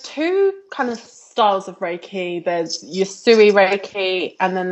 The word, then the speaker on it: Reiki: You Raiki Raiki. Oh, it's pronounced Reiki.